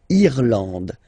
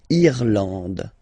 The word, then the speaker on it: Irlande: Remember, this is E, and it should be pronounced like E. Irlande. Irlande. Okay, A-N, en, D, and final E, not pronounced. Irlande.